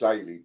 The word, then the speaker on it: Ailey: It's a difficult one when you don't know it because it's spelled Ailida, but it's Ailey, actually.